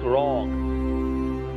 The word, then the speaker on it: wrong: W is usually pronounced, not pronounced, if it comes before R at the beginning of a word, like wrong, rap, right.